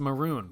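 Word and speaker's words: Mörön: Sadly, it's pronounced Maroon, but that ruins the joke. Oh, really? I mean, obviously I've heard about it because I watched the Grand Tour, but they called it Moron.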